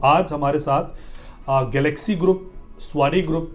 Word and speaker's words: Sawasdee: किया नहीं आपने आपने आपने लगभग सही प्रोनाउंस किया लेकिन ये जो एग्जैक्ट वर्ड है वो है स्वा स्वा स्वा basically this is Thai word अगर आप थाई लैंग्वेज में देखेंगे ना स्वा कॉल्ड वेलकम अच्छा यस स्वा स्वा